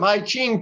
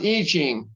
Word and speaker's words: I Ching: i'm gonna i'm gonna throw some hai ching for you it's actually quick it's actually pronounced iching i'm gonna throw some eejing for you it's either